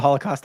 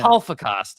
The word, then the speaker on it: Holocaust: Holocaust. You got to pronounce it with the L, I think. Yeah. The L has to be pronounced.